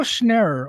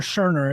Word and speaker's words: Scherner: Ariel Schnerr, or Scherner is how I've been told it's pronounced.